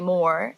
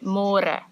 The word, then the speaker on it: môre: It's a little bit easier, but you have to remember to read môre because in English it's spelled like more. So don't say more, say môre. And the older generations of Afrikaans people, they might say it a little bit differently and they sometimes say môre, but it's more commonly used as môre.